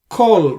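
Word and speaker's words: כׇּל: Okay, so wherever there is a makef and before that in this you have a syllable, a closed syllable with a qamats like this, it's a qamats qatan. Most of the times it appears, it applies to the word kol, means all, and kol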